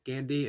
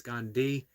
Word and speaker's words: Gandhi: It's not Gandhi, it's Gandhi with the H pronounced like the H, the I.